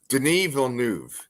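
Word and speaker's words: Denis Villeneuve: Denny Ville and the wave how do you Den vnu that's how they say it Den okay so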